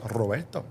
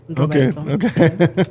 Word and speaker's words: Roberto: It is Roberto. Roberto. Roberto Torres. You had to roll the R.